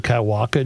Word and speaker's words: Kaiwaka: He has not corrected me on the pronunciation, so I bet I'm saying it correctly. All right. Well, you try it. K AI W A K A Kaiwaka.